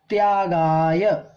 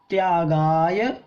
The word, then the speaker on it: त्यागाय: त्यागाय, ठीक है, आधा ता है ये। त्यागाय श्रेयसे वित्तमवित्तः, वित्तमवित्तः संचिनोति यः, संचिनोति यः स्वशरीरं स पंकेन स्नास्यामीति विलिम्पति।